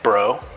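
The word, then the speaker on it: Breaux: When he's not playing bass in his band, Bro, spell it, B-R. B-R-E-A-U-X.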